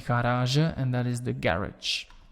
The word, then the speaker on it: garage: That is why we pronounce that last G as a French G and not as a Dutch G, because if it would be Dutch, we would say garage, but we do not do that, and we say garage,